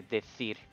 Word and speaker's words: decir: I would say decir with a th sound because the soft C and the Z sound in the proper Spain accent is a th sound, like how you would say I want to say with, but not every single